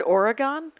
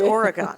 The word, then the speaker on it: Oregon: right it's like when I said the word Oregon isn't pronounced Oregon it's Oregon and in Wisconsin yeah and Milwaukee